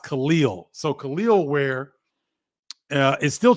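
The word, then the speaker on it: Kel'el: Khalil, where I was pronouncing his name Kel-El because that's how it's pronounced. That's how it's spelled out, but it's pronounced Khalil.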